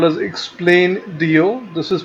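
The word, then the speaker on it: Explaindio: There is a software called as Explain.dio. This is pronounced, the spelling is EXPLAIN.dio.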